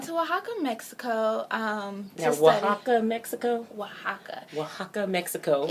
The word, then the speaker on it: Oaxaca: Oaxaca, Mexico. It's really interesting because the way that it's spelled, it does not sound like that.